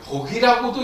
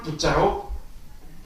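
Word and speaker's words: 覆: 여러분들께서 이제 이걸 저기 옥편에 보시게 되면 복이라고도 있고 부라고도 있습니다. 부라고도 있습니다. 근데 불교에서는 이걸 복이라고 읽지 않고 덮을 부자로 읽고 있습니다. 덮을 부자.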